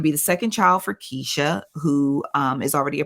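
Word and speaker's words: Keshia: say it yeah yeah it's it's Keisha but I have to say kashia or else I would spell it wrong so uh Keisha Knight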